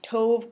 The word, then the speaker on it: tove: They rhyme with lots of words, like tove could be rhymes with dove, but we don't interpret that as a verb in this context.